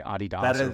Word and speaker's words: Adidas: or I was called Adidas. I was just over in London, and they say Adidas. That is the correct pronunciation.